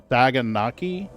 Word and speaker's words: saganaki: called I'm sure I'm not saying it correctly saganaki how s a g a n Aki I